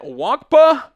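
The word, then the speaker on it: Nwankpa: I think the N is silent. Wankpa, the safety out of Iowa.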